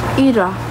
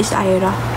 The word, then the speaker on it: Ira: Ira. Pero ang real unre pronunciation talaga niyan isra pero nasanay ng tawaging Ira. So Ira na.